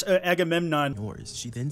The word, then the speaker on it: Agamemnon: Lana says, No, you said it wrong. That's Agamemnon.